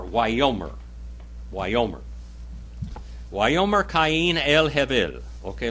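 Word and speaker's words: ויאמר: very much you got a plus for that wyomer and that's it it is w a y y o m e r wyomer wyomer wyoming el heville okay let's read this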